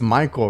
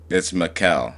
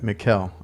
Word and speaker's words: Mikhael: It's Michael, right? It's just with a K instead? It's Mikhael, so it's spelled like Michael, Mikhael. but it's a K instead of a C.